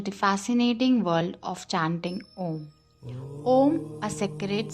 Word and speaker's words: Om: Om consists of 3 syllables, A, U, and M, which represent different aspects of existence.